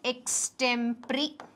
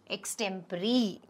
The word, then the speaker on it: extempore: ex temporary it's called an x it's extempore pronunciation is extempory okay spelling is x extempore e x t e m p u r e pronunciation matram x tempori next select the word that fits closely in